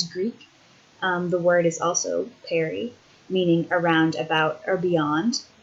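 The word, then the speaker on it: परि: The word is also peri, meaning around, about, or beyond. And it's also, interestingly, cognate with the Sanskrit word. Peri, it sounds the same, but is spelled P-A-R-I, meaning around, about, and through.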